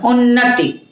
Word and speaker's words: उन्नति: यहाँ उन्नति लिखा है, ता पे बड़ी मात्रा दी गई है, जबकि बोलते हैं उच्चारण में उन्नति। अब जब मैंने उन्नति कहा तो ता पे जो छोटे की मात्रा आई उसको मैंने झटके से कहा, कम समय में और तेजी से निकली।